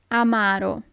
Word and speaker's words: amaro: Amaro. Amaro. So it's not amaro, but amaro. The accent is on the second A.